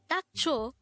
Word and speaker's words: 닥쳐: this is pronounced as a two-syllable word the first syllable is that second syllable is cho pronounce it with me the word dacho means shut up again the term tacho is used to say